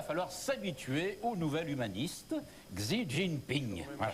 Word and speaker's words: Xi: s'habituer au nouvel humaniste, Xi Jinping. Voilà. Chi. On dit Chi. Xi. Shipping. Ah ben, ben, je parle pas Xi, le mandarin. C'est Chi, couramment.